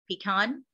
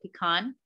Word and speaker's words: pecan: And the blue is pecan, right? With a different vowel in the second syllable. The green, which is all the East Coast, is pecan with the stress on the first syllable.